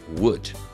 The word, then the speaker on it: would: Would. So I would say definitely the L is silent, but also maybe the O.